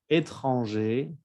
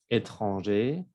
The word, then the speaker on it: étranger: Étranger, étrangère. Aquí cambia la pronunciación. Se escucha la R en el femenino, pero en el masculino no. Étranger, étrangère.